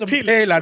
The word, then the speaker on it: Mpela: It's Mpela, not Pella. I said it right. Mpela, yeah, Mpela. It was an Mpela. Mpela ke Motswana. I'm not Zulu or Xhosa, so it's Mpela.